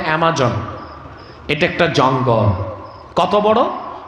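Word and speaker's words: Amazon: আপনারা যেটাকে আমাজন বলেন, উচ্চারণটা অ্যামাজন।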